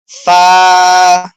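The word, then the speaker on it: ف: জি এখন ফা ফা ফা হলো উপরে দুইটা দাঁত ঠোটের পরে একটা চাপ দিবে আরকি ফা ফা ফা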